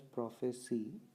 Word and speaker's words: prophecy: Okay, now there is a difference in the pronunciation also. So one with C we call it as prophecy and in Hindi it means okay means uh means okay that is prophecy and prophesy the verb one the verb word